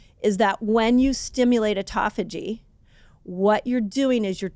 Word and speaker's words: autophagy: People either call it autophagy or Autophagy. autophagy. People say it different. You can tell me I said it wrong. I kind of landed on autophagy. I feel like Autophagy. autophagy is the best way to say it.